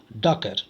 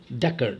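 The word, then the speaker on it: Dacre: वहाँ कार्य करता था, उसका नाम टॉम डैकर, डाकरे बोले या डैकर, डैकर एक्चुअली नहीं, उसको टॉम डैकर बोले, इस तरीके से प्रोनाउंस करें।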